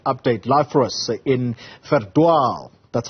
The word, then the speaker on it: Verdwaal: Live for us in Verdwaal. That's how you pronounce the name of that village in the northwest.